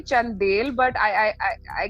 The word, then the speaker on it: Chandel: how are you doing I hope I pronounced the last name right Chandal because you got it you actually it's actually chandelle but I I I